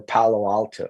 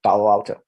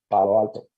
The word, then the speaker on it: Palo Alto: I would usually say San Francisco, Los Angeles, and Palo Alto. Palo Alto. That's it. Like I try not to embrace the English pronunciation in names that are Spanish, that come from a Spanish origin.